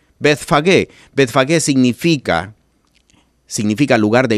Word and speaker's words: Betfagué: Betfagué se escribe b e t h. Bet que significa casa o lugar. Fagué se escribe ph a g e. Betfagué.